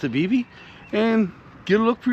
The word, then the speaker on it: Vevay: If you haven't seen them, come to southeastern Indiana to a town called Vivv, or some people pronounce it Viv. Locals like me pronounce it Vivie.